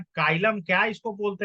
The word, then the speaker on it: xylem: जाइलम meaning in Hindi, जाइलम ही बोलते हैं भाई, जाइलम में कोई दिक्कत नहीं है।